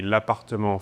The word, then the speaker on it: L'Appartement: The official pronunciation would be L'Appartement 4F.